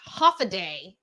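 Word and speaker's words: Hafa Adai: Zenobia said, Haffa-a-daya, pronounced half-a-day.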